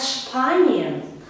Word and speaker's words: Spanien: Ich komme aus Spanien. Зверніть увагу, Spanien. У німецькій мові S перед P або T у більшості випадків вимовляється як Ш.